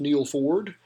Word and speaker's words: Neal Ford: e al the number for D which is pronounced Neil Ford so it's the leet speak version of name